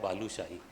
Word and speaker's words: बालीशाही: आप पुरी में जाएंगे, एक जगह है बालूशाही। बालूशाही मिठाई नहीं, बालीशाही उड़िया में प्रोनाउंसिएशन होता है, बालू से बना हुआ है।